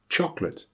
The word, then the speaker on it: chocolate: You may have heard these words pronounced: different, chocolate, camera, separate. They are all words that should have 3 syllables, but have been reduced to 2 by dropping the schwa.